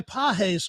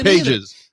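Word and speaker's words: Pagés: And how about the guy pahes who who was benched because his name is Pages. Pages. We're not calling him Pahes. Drew and I had this discussion before cuz it's spelled pages.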